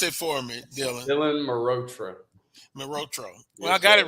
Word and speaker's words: Mehrotra: Yours truly, Carlos Brown, Charles Edmond, and now our second guest, Dylan Malhotra. I think give me pronounce it for me, Dylan. Dylan Mehrotra.